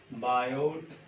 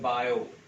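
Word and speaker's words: Biot: तो टॉपिक का नाम देखिए, बायो, टी साइलेंट होता है, बोलते हैं बायो, टी साइलेंट होता है,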